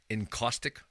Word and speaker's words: encaustic: Am I pronouncing it right? Encaustic Yes.